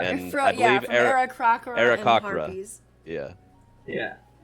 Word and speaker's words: Aarakocra: it's, you've been spelling and pronouncing Aarakocra wrong. Aarakocra. It's this. Aarakocra. Yeah. Aarakocra. That's how I say it. Annie, you've been putting an extra R in it after the K.